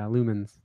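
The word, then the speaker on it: Lumines: Is this Lumens? Is that how it's pronounced? Yeah, heck yeah, Lumens.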